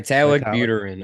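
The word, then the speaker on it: Vitalik Buterin: Vitalik Vitalik, Buterin. I was listening to a podcast, so that is the right way to pronounce it.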